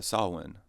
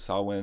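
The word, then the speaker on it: Samhain: he's actually named after sawin oh really that's how they got the name Sam because sawin is actually like spelled like Sam Hine or Sam Hayne and stuff so they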